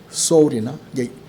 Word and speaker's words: 서울: 그걸 만들 때에 서울 이렇게 했습니다. 발음이 비슷하죠. 소울이나, 우리는 소울이라고 하지만 그 외국인들은 이 서자리로 발음 많이 해요.